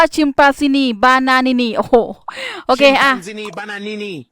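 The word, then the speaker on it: Chimpanzini Bananini: การ ซื้อ มา แล้ว มัน อ่าน ว่า ชิมปาซินี บานานินี โอ้โห โอเค อ่ะ ซินี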